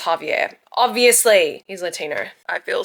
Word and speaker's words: Javier: Okay, I just say Xavier. I've got no flavor to me. Okay, but I've just listened to the audio and it's pronounced Javier.